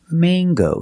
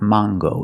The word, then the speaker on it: mango: Mango. Use the long a. It's not mango and it's not mango. In English, it is mango. With this word, we pronounce the hard g sound. So, it's mango.